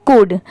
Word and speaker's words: could: बट अगर आप ये सोच रहे होगे कि COULD यहाँ पर L दिया हुआ है तो इसे हम कुल्ड क्यों नहीं पढ़ सकते, तो देखिए यहाँ पर ये जो लेटर L है ये साइलेंट है। यहाँ पर लिखते टाइम तो हम COULD लिखते हैं, बट पढ़ते टाइम सिर्फ इसे हम क्या पढ़ते हैं कुड।